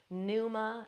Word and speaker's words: pneuma: Pneuma, that's spelled P-N-E-U-M-A.